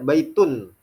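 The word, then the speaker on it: بيتٌ: baitun artinya rumah ya baitun ya dengan kata tun tun seperti domaten disebutnya ya ataupun contoh lainnya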